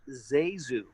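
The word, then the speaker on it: ZaSu: or something but i hate no no it's pronounced zazu and she was actually named after her mother's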